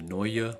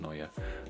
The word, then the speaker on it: Neue: i really like the neue black i think it's pronounced gnoya this ligature is super cool